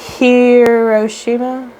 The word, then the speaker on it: Hiroshima: have happened not right after but soon after hiroshima am i pronouncing that correctly i think so or is it hiroshima no hiroshima you said it right the first